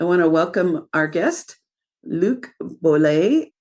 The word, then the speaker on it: Luc Boulet: I want to welcome our guest, Luc Boulet. Did I pronounce that right, Luc? Yes. Yes, because it's French and French Canadian, although he was raised in Georgia in the South.